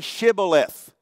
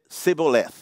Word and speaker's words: Shibboleth: Well, say Shibboleth. And of course, they said Sibboleth. They couldn't pronounce the word the way this particular group of from Manasseh could.